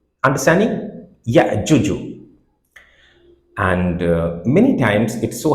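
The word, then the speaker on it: يأجوج: It will become ya'juju. Understanding? Ya'juju.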